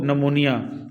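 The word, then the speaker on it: pneumonia: ये पी नमूनिया नहीं पढ़ना, ये पी इसमें साइलेंट है। ठीक है, इसको नमूनिया पढ़ना है बेटा।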